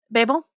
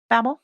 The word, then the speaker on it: Babel: what did you read Babel Babel? No, that's another one actually. Yeah, people like to pronounce it either. I've heard it both ways. Babel or Babel.